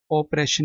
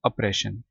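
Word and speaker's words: oppression: cruelty ठीक है ब्रोटलिटी ऑपरेशन नहीं पढ़ना इसको अप्रेशन ठीक है ये यू से है अप्रेशन जब इसको प्रोनाउंस करेंगे जुल्म संगदिली इनजस्टिस अनफेयरनेस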